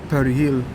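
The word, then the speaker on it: perejil: were asked to pronounce the word Perry Hill believed to be hard for the Haitians because of the r and the J everyone who felt at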